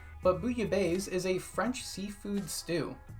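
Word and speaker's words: bouillabaisse: Booya Base is a pun for Booya Bay. Booya Base, the big mall in Splatoon, is a pun on Booya Bay, pronounced almost exactly the same, but Booya Bay is a French seafood stew.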